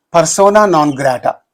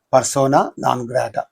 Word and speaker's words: persona non grata: Persona non grata. Persona non grata.